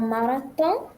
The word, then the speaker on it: marathon: En marathon. En marathon. Okay, very good. Students tended to pronounce the TH, which, as you know, doesn't exist in French.